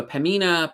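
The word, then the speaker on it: Pembina: pamina uh pamina ah somebody keeps telling me the bee is silent uh so pamina pipelines they're having their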